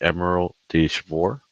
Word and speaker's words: Emerald de Chivor: So the only thing that I've dared to use is a shimmery, shiny ink, the Emerald de Chivor. I think that's how it is pronounced.